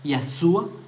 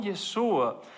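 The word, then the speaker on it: ישוע: él no sepa decir el nombre de su propio Mesías de que él no sepa decir yeshua sino que diga y a suba sin la letra Shin con yeshua OK entiendo eso y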